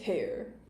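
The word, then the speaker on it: Haigha: happy his name is hair he pronounced it so as to rhyme with mayor I love my love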